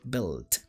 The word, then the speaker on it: build: Build. La pronunciación, ahí está, build, bien, como con i, sí, como que se saca esa u.